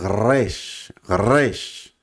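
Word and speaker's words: ר: Pero la resh, que es una letra muy gutural, pues decimos resh, resh.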